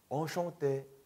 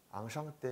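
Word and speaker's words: enchanté: 엉샹떼 만나서 반갑습니다 할 때 엉샹떼, 앙샹떼 이렇게 하시면 안 돼요.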